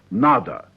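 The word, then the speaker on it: надо: after such words as n it is necessary pronounce NADA NAD say it is necessary to speak Russian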